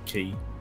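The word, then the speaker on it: Cay: Norman's Quay. Norman's Quay. Quay? Not K? No. K in the Bahamas or the Caribbean, is pronounced Key.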